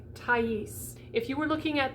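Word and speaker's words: Thaïs: au combination okay so if you're looking at two dots over the top of something in french it's telling you that that letter whatever the two dots are over the top of is going to be pronounced separately so in the name like tais if you were looking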